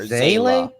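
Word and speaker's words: Seele: It is in fact pronounced as Zele. Zele. Or Zayla. Zayla? Zayla? What the fudge, man? It's not pronounced seal, it's Zayla?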